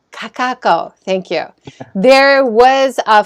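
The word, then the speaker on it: Kakaʻako: photos from Hawaii to start out this is Kakaako have I said it right I always say that wrong it's really hard to say Kakaako Kakaako thank you there was a farmers market in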